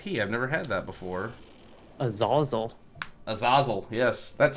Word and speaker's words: Azazel: Azazel. Azazel, yes. That's how YouTube told me to pronounce it when I played the button.